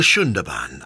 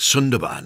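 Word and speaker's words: Sundarbans: view to promote the very same ie the shunda ban as is pronounced although you might want to call it Sun Durban as spelled this is a very large mangrove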